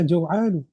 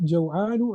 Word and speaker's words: جوعان: So the masculine is what? جوعان and not جوعان. And if you just speak, you can say أنا جوعان.